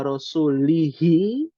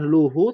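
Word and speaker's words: رسولُه: Tapi ketika si sahabat ini membacanya karena ia lupa, tidak sengaja, annallaha bari'um minal musyrikina wa rasulihi, bukan luhu tapi lihi, maka menjadi artinya bahwa sesungguhnya Allah berlepas diri dari orang-orang musyrik dan rasulnya.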